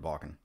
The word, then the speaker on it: Wacken: Okay, that's how you say it, Wacken.